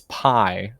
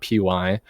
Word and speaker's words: Pi: I was informed it's Pi. That's how you pronounce it, not PY.